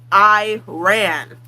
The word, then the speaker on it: Iran: like it's an I we're going to put a lot of emphasis on the I sound Iris Ireland Iraq crack. I ran.